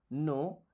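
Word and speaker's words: know: You miss आप नो। देखिए इस वर्ड में के और डब्लू साइलेंट है।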